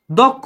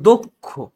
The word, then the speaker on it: দক্ষ: আস পরেরটা কি বলছে যদি আদ এর পর তোমার বা গ থাকে সে কষেত্রে হচ্ছে এর উচ্চারণ ও এর মত হবে যেমন দক্ষ এই জায়গায় হচ্ছে দক্ষ না এটা হবে দক্ষ কক্ষ না এটা হবে